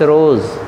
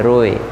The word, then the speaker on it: roe: सर जी ROSE बोला, spelling ये गलत लगती है, ROE है, रोए। ये प्लूरल बनाने के लिए एस लगा दिए हैं। एक्चुअली फिश रोए होता है।